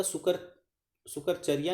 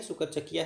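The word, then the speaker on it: Sukerchakia: the chief of द सुकर शकर चरिया नहीं है सुकर चकिया है बट ठीक है य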